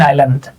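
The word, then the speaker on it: island: ওই যে সাইলেন্ট থাকতেছে এখানেও আপনার এসটা সাইলেন্ট থাকতেছে ইসল্যান্ড না কিন্তু আইল্যান্ড এখন আমরা অপশনে যা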